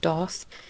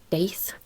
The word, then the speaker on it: daith: Because like I've been told it's pronounced like Doth. I've been told it's pronounced Daith. Daith. So many pronunciations.